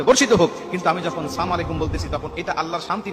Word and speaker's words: আসসালামু আলাইকুম: নাড়িভুড়ি তোমার উপরে পতিত হোক আবার অনেকে বলি সালামু আলাইকুম মানে আল্লাহর গজব তোমার উপর পতিত হোক বিভিন্ন